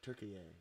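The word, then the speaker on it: Türkiye: I'm pretty sure Turkey A. It's really not pronounced turkey. No, because they even changed the spelling. It's Turkiye with like one of those little 2 dots over the I think, or something like that.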